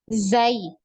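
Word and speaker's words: ز: adalah huruf Zai ya Zai jadi sama ya pelafalannya seperti huruf z ya di Indonesia ya Zai gitu nah ee huruf Zai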